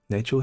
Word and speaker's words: Nachel: It's spelled like Rachel but with an N. Nachel, he can offer shortblade training.